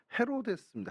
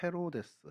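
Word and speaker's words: Ἡρῴδης: 수 없이 하게 됐습니다음 여러분 해롯 그러면 이게 영어 발음은 아니잖아요 이제 그 헬라어 또 히브리어 아라모 런 이제 중동의 이야기 그 이런데 헬라어로는 헤로데스 헤로데스 헤로데스 어이 헤로데스 또영 헤로디아 뭐 이렇게 되는데요 헤로데스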